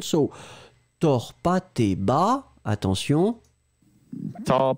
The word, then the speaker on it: tors: So, tors pas tes bas. Attention. Tors pas tes bas. So the tors, one more time, it's like tors. So the O is slightly different.